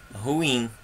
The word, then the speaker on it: ruim: Por exemplo, a palavra ruim. Qual é a sílaba mais forte? Ru ou in? Ruim. O in. O in não tem acento.